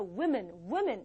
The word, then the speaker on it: women: 그래서 woman이 아니라 women 이렇게 발음이 돼요.